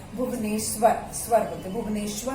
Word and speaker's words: भुवनेश्वर: ओडिशा का कैपिटल है भुवनेश्वर, स्वर बोलते, भुवनेश्वर भी नहीं, भुवनेश्वर। तो हम स्पेलिंग लिखते हैं भुवनेश्वर की, BHUVNESWAR, भुवनेश्वर, भुवनेश्वर, ओडिशा, भुवनेश्वर।